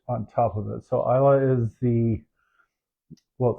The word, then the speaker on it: Islay: So Islay is the... Well, it's spelled Islay. Apparently it's pronounced Islay. I don't know.